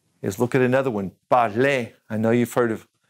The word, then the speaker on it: parler: First of all is aimer, aimer, and espérer, espérer, parler, parler, to speak, remember to look for, chercher, chercher,